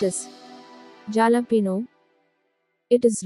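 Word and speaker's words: jalapeño: mispronouncing it it is jalapeno while looking at its spelling it is sometimes mispronounced as jalapeno it is wrong correct pronunciation is jalapeno it is not jar sound it is ha sound jalapeno jalapeno next word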